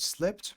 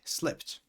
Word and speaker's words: slipped: By the way, the pronunciation of the word slipped, pay attention, because slip ends in a p, then obviously when there is an ed at the end, the pronunciation is with a t. Slipped.